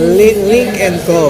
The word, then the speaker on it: Lynk & Co: Medyo hapon na guys no medyoapos muna natin yung mga natingin no at papasok tayo sa car na link and co ayun yun pala correct pronounce link and co philippines guys ha pasok